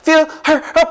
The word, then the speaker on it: fill her up: fill her up 이렇게 H 발음은 거의 안 됩니다.